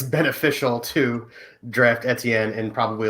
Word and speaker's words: Etienne: it just kind of it's like btn but with an e etienne okay um he he's